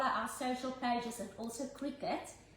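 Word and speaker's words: Cricut: And follow our social pages and also Cricket to see, C-R-I-C-U-T. Let me show you how it's spelled, okay? Cricket, just for those that don't know. Maybe someone thinks I'm referring to the sport where there's a bat and a ball being used.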